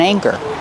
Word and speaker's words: anchor: of the word anchor use a long a like say and day a anchor and the second syllable is the ER like Burger together anchor and keep watching for